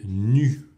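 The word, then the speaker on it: ν: grecque, voilà, ici, et qui s'appelle nu. Ouais, NU, comme si on était tout nu.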